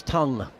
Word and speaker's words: Tongue: Uh it's tongue which rhymes with young and it's defended back to bowl and they run.